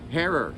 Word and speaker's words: Herer: Herer. It's Herer. pronounced Herer. Rhymes with error and terror.